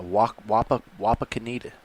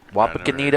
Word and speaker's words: Wapakoneta: Yeah, Wapakoneta. Never heard of it. Wapakoneta, Ohio. Nope. I think that's how you pronounce it. Wapakoneta.